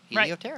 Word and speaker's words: Helioterra: Helioterra. Right. It just sounds cool. And as I look at it, and how do you say it? Okay, now I know. Helioterra.